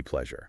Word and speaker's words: pleasure: Yes, the e spelling makes it look like it should rhyme with please.